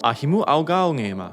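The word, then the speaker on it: Ahimu'augāungēma: It's pronounced Ahimu Augaongema, and it means my friend's roots.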